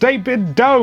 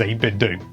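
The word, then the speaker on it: 8BitDo: get at least one comment saying it's pronounced david doe like nintendo and it's like well it's not i've got a speaker that is biobidding and it says 8-bit do and i even mentioned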